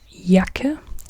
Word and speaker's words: Jacke: a jagera Yer and or jacket in English it's jacket but in German it's yak yak not ja but Yak Y Yak so e inel the